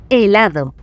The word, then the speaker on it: helado: Helado. Sois unos genios. Lo habéis entendido a la perfección. Helado es una palabra llana porque su sílaba tónica está en la penúltima sílaba.